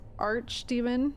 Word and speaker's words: archdemon: I'm fairly sure the pronunciation is archdemon. Okay, thank you. Not arc.